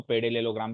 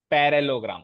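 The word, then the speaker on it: parallelogram: ठीक है, पैरेललोग्राम, कई बच्चे इसको पेडेलेलोग्राम भी पढ़ते हैं, पेडेलेलोग्राम।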